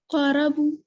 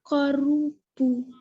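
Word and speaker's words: قَرُبُوا: Qarabu. हाँ नहीं, रॉ के ऊपर क्या हरकत है? Qarubu.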